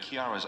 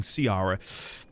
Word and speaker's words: Kiara: Kiara, I reverse engineered an image of Kiara's aura patterns before and after. The schism is pronounced and dramatic. Ooh, so it is Kiara. I've been saying Carara.